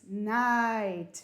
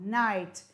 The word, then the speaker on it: night: at the words again n plus i g h t makes night it's really long night and remember you don't pronounce the g or the h knight l plus i